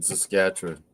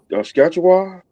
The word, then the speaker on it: Saskatchewan: We're like Texas in Saskatchewan.